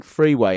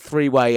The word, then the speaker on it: Freeway: And he wasn't just mispronouncing freeway, everyone. It's not three-way as in an orgy cola. It's freeway as in a road.